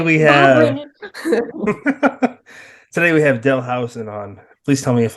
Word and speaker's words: Howison: Today we have today we have Howison on. Please tell me if I'm mispronouncing that last name.